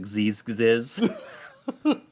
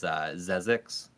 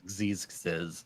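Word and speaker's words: Xexyz: name of that, and Dave calls it Gziz. But I think the correct way to say it is Zezix. Hmm. Look at but they're I've always referred to it as Xeez.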